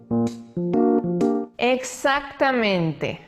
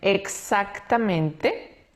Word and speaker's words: exactamente: Exactamente. Esta palabra tiene dos pronunciaciones diferentes, dependiendo de la persona. Hay personas que pronuncian exactamente y hay otras personas que pronuncian exactamente. Las dos formas son correctas.